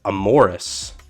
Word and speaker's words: Amoris: Amoris, right?